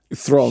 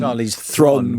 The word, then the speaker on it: Charlize Theron: I bet they would pronounce Charlize Theron's name... Thron. Charlize Theron.